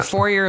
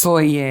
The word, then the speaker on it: foyer: Anyway, the foyer looks like a back door. It's Yeah, I said foyer. I'm such a hooer. It's foyer. It's foyer. Sorry. We say foyer around here.